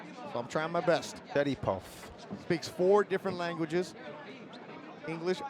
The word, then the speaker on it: Sharipov: in the lobby today how do you say your name he say Shad puff so I'm trying my best shy puff speaks four different languages